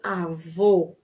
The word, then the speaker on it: avô: pronunciarem para vocês aprenderem Como se pronuncia certo o meu masculino o meu avô avô avô o o avô certo conseguiram positivo positivo positivo